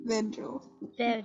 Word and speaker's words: Vergil: The laughing Janice takes the stuffed animal but keeps staring at Virgil. I'm gonna say it like Virgil. Virgil. Wait, hold up. For the audience, it is spelled Vergil.